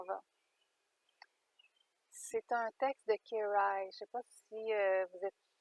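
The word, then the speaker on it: Kejraj: se nomme, qui signe en fait Kerai, qui s'écrit K-E-J-R-A-J, Kerai.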